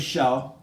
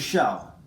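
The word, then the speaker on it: Kjell: Now, okay, so I had a friend named Shell, and it's spelled just like this. It's a Danish name, and K-J-E-L-L, but I think I've heard Ethan say this is Kelsin. My friend's name was Shell, and he was a guy.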